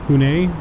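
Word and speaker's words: Pune: planned for Saturday uh is pronounced uh pun pun okay there we go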